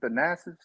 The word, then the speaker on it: Thanasis: Thanasis?